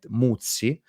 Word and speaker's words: Muzzi: So when you read a last name like this, Muzzi, you really need to stress the two Z, Muzzi.